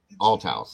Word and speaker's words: Althouse: Althouse, it should be pronounced.